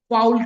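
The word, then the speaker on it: foal: और हॉर्स के बच्चे को फाउल कहा जाता है, या फॉल भी कहा जाता है इसे, ठीक है।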